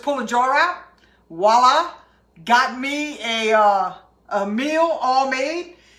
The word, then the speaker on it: Geaux: So if you want the complete recipes and the things that I am doing, please go to YouTube and subscribe to my channel. Let's Go Cook with Tiger. It's spelled G-E-A-U-X, just like at the top of the description of what I'm doing right here.